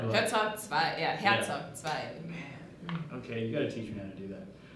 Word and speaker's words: Zwei: It's Zwei, isn't it? I'm mispronouncing it. What I was. It's two? What's two? It's in Zwei. that Zwei. language of yours. Zwei. Yeah, alright, that's the way to say it.